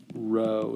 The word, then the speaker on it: rho: is a greek r rho is how you say it anyway and it it